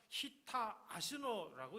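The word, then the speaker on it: הִטָּה אָזְנוֹ: 귀를 기울이다라고 하는 단어 히브리어 보니까 히타 아시노라고 이렇게 발음합니다. 어떻게 보면 일본어 같은데 일본어가 아니고 히브리어 원어입니다.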